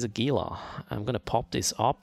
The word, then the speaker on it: Gila: like that Raleigh greetings right pronunciation is Gila I remember like right